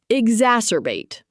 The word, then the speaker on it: exacerbate: exacerbate pronounced ex as er bate.